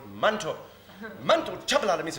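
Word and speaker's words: Manto: our Minister of Health her name is not Mandy it's mantle mantle chavala la misma Mandy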